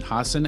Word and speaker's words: Hassan: We have Stephen Hassan, and I pronounced that correctly, right?